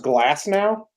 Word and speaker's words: Glasnow: It's pronounced Glass now?